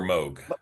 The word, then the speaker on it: Moog: Uh Moog or Moog. It's Moog. But mini very often mispronounced, but it's actually more.